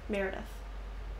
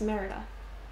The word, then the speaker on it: Merida: It's like a mix of Pocahontas and Merida. Meredith. You know, it's Merida.